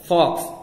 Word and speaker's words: folks: फॉक्स FOLKS, इसमें L silent है और इसमें जो एल